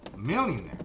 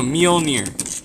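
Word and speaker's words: Mjölnir: I thought it was Thor's hammer mjolnir oh a millionaire no mjolnir a millionaire so it comes mule like donkey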